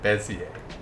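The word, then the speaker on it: Bézier: desi ager busy acres busy 8dayz a Bayesian Bezier thank you okay ignore the jst s crap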